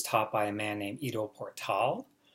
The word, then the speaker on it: Ido Portal: by a man named IDO portal which is spelled I do and then last one was Pilar tal like portal which if you've never